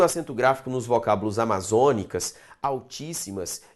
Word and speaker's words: altíssimas: Altíssimas. Altis. Lembra de separar isso aqui. Simas. Sílaba tônica, tá aqui, proparoxítona devidamente acentuada.